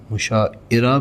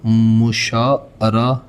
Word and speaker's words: مشاعرہ: تو یہ ہے مشاعرہ۔ مشاعرہ بھی نہیں ہوتا، مشاعرہ بھی نہیں ہوتا، تو مشاعرہ is the right word۔ فعل متعدی کون سا فعل ہے جو فاعل کے ساتھ مفعول کو بھی چاہے؟